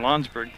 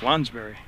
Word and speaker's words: Lounsbury: And that foul called on Lonsberg. Foul whistled number 21, Chelsea Lounsbury. Okay, I've been mispronouncing it. It's Lonsbury. Looked like Lonsberg when I wrote it, but it's Lonsbury.